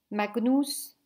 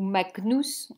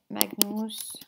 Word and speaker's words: magnus: veut dire petit, ou magnus. On a vu qu'on ne disait pas magnus, hein, mais qu'on prononce toutes les lettres et que le G était toujours g, un G dur.